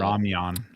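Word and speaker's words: ramyeon: ramyun? Well, I think the correct pronunciation is ramyun, but it's ramen.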